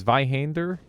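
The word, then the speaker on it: Zweihander: lighter colossal weapon to work with it's it's pronounced zviander hander it's vihander it's more more of a heavy a than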